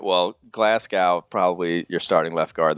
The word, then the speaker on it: Glasgow: you somehow bastardize that into glass cow cuz that's just not that's how he says it though well he's clearly wrong look the man is is is ill informed how his name should be pronounced I think someone should help him out all right well Glasgow